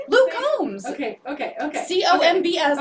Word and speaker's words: Combs: Luke Combs. Okay. C-O-M-B-S, okay. Like a honeycomb. Not Combs like the catacombs.